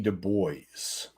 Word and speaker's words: Du Bois: mess up his name W.E.B Du Bois I believe that's how they say it in the movie sound or two but